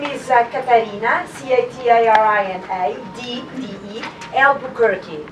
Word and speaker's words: Albuquerque: You will get the press release, and because my name is very, it's like the town, like the city in New Mexico.